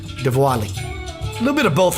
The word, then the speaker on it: Diwali: Diwali. Diwali. It's pronounced with a V, but it's a W. Diwali. A little bit of both, actually. Diwali.